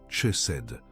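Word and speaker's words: חסד: Cette parole est chesed. Prononce-la avec moi, rised, avec une respiration douce sur le début.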